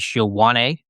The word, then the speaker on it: Ioane: I think the pronunciation for his last name is Ioane, we'll go with.